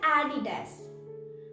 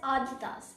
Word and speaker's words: Adidas: you know what it is it's known as adidas but most of the people call it as aditas and that's wrong so do you know what